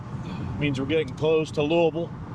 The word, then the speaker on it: Louisville: Means we're getting close to Louisville. Yes, it's pronounced Louisville. L U V A L.